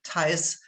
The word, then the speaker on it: Thijs: And I'm very happy now to introduce to you Thijs Reyniers, as I just recently learned how to pronounce this also German family name.